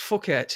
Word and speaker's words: Phuket: It's pronounced Phuket here. Okay, fuck it, yeah, Phuket, yeah.